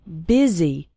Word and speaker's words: busy: in fast spoken English the word busy is pronounced with an i sound busy and the word and